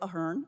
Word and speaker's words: Ahern: I am Ahern.